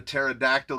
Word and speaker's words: pterodactyl: you can't hear a pterodactyl go to the bathroom?" And innocently he looked right in my face and he said, "Why?" And I said, "Because the P is silent."